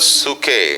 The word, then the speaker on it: psuche: Number 2, दूसरा शब्द yeah, is the word called suke. Suke means, please take the spelling because it is pronounced in a different way.